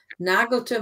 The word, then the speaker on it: nagelte: Oktober 1517 nagelte, so the emphasis is on the first syllable, nagelte Martin Luther 95 Thesen an die Tür der Schlosskirche.